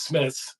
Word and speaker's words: Smythe: third tight end, Smythe, which is not the way you spell that last name, by the way. It's Smith.